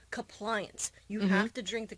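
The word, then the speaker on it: Cuppliance: a cup of compliance it's spelled c u p p l i a an C so it's not compliance like the word but it's compliance you have to drink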